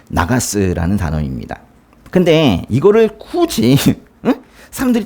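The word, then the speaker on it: נָגַשׂ: 나가스 해보세요.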